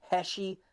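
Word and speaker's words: Heshi: our brand new partnership with an amazing company heshy socks that's spelled h e Shi socks go to heshy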